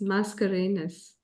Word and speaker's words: Mascarenhas: blame you it's a complicated last name it's mascarenas mascarinas mascarinas okay people do the same thing with